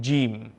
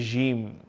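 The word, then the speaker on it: ج: So, when the tongue, you are reciting or pronouncing this letter, the tongue must be connected to the palate. So you say Jim. Sometimes you may hear people with a certain accent, they will say Jim.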